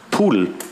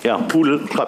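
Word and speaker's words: PDAL: Es gibt Ogre und es gibt Gudel. Das sind zwei klassische Bekannteile. Gudel heißt Gedal, was wir alle als Gedal kennen. Und das soll sich darauf reimen. Gudel, die Schöne und das Biest. Ogre, Fiona, vielleicht schon mal gehört. Pudel, spricht man es aus.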